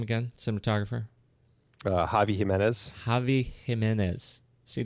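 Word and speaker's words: Xavi Giménez: cinematographer uh Javi himz jav Jimenez see that's confusing because it's an X for jav and a g for Jimenez and no J's anywhere in there now I know I'm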